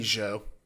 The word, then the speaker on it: Jeux: Any of you take French? That'd be Joe. Yeah. Jeux Video.